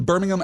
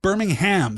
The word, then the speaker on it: Birmingham: Birmingham. So I guess it's just the the stress in the last syllable there. Birmingham.